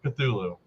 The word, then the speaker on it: Cthulhu: bro how hard was it just to say Cthulhu but to be honest though like that's the weirdest pronunciation for how it is written I did